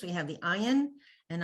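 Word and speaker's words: עין: have the ayin, and I believe it used to be pronounced something like this, ayin, with a kind of a funny sound, like some of those African languages. Like, anyone remember the name Miriam Makeba? Yes. Okay, so she had a special, like a Finger. It clicked. kind of a click sound. Yeah. Yeah, okay, so that ayin, we don't pronounce it like that anymore, but it once was pronounced like that.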